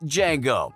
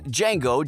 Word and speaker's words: Django: bar where Jamie Foxx's Django joins him vasepi asks his name and Django tells him saying that the D is silent and vasepi says I